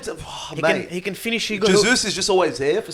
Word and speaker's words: Jesus: It's not Jesus, by the way. It's in Portuguese. The J is pronounced. So, Jesus.